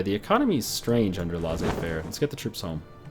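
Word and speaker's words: laissez-faire: economy is strange under L Fair let's get the troops home twitch chat says it's pronounced lazy Fair I don't think it's lazy Fair we should build up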